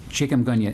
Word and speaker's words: chikungunya: And then it was back in the 1990s, you're going to have to help me with this, chikungunya. Chikungunya. Thank you. I asked my wife how to pronounce it. Chicken with a gun. Thanks a lot. Chicken with a gun. Chikungunya.